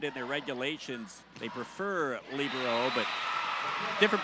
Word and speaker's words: libero: let that one go libero is uh I've argued with some people about that I prefer libero sometimes the term is labero the girls high school